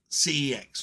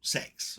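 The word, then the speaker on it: CeX: a small rant at C ex or sex or kex depends on how you want to pronounce that um yeah the way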